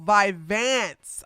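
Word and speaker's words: Vyvanse: Oh, vivance. I was pronouncing that wrong.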